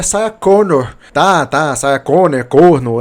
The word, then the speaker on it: Sarah Connor: Primeiro, antes de tudo, nós temos a Saia Conor. Ai, você está pronunciando o nome dela errado. É Sa Conor.